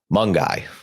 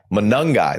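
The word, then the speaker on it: Monangai: I always mess this guy's name up Kyle mongi do it again Kyle mangi Kyle manongi manungi there we go yeah manangi missed a syllable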